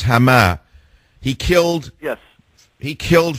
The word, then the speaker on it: Hama: was it ham hams how do you say it in Arabic the city that he killed 40,000 AR um Muslims in I think it's hamah hamama I always mix it up right it's hamah he killed yes he